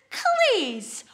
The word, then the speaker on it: claes: But don't worry, because instead, we are gonna use claes, which is the Scots word for clothes. Claes. Taes and claes.